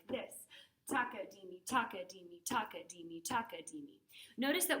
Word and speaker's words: takadimi: Also notice that in takadimi, the third syllable you say is di, because that's halfway through. And that matches the ta-di that we say for eighth notes.